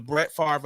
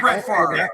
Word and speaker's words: Brett Favre: what you're saying now we're not brett fargo no no brett favre he's brett favre i said it right brett favre gave